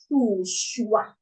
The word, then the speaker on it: hlushwa: When we add the verbal extension WA, so impambo siyokwenziwa, to a verb that ends with the syllable PH, hlupha, PH. It changes that last syllable to an SHW sound. Sh, sh. And so the verb is now hlushwa, from hlupha to hlushwa.